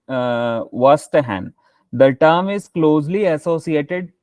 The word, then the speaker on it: Verstehen: Next term, the eighth term is it is Vastahan. It is called means we can pronounce Vastahan.